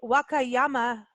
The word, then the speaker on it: Wakayama: So you were in Japan's Wakayama Peninsula.